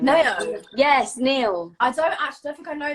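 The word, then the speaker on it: Nao: Yes, Neo.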